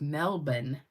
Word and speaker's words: Melbourne: always thought it was Melbourne Australia and then I think the bachelor went to um Melbourne and they said it's Melbourne you don't say the r and I was like